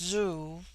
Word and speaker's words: zu: On the other hand, z, when an initial, is with them a sound in which the breath is sucked inward, and thus zu, pronounced zoo, which in their language